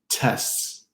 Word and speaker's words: tests: You'll have a hard time hearing the T in words like tests, tests, firsts, guests, exists, dentists.